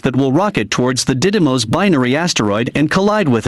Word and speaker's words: Didymos: DART for short, and the mission involves NASA launching a spacecraft that will rocket towards the Didymos binary asteroid and collide with it.